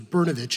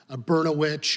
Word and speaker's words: Berovic: fourth grade that I realized my name was berovic and not beroit or brosaurus vit or any other words that rhyme with that and that's just what